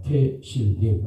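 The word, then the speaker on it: תהילים: 자, 원어 성경은 시편을 태실림이라고 합니다. 태실림 한번 따라 볼까요? 태실림. 태실림. 태실림.이 시편이라고 발음하는 건데이 말의 뜻은 시와 찬양의 노래다라는 거죠.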